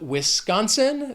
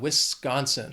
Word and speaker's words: Wisconsin: Then we have Wisconsin. This state has 3 syllables, and the stress is on that second syllable, that con, Wisconsin. People think of Wisconsin, they think of cheese.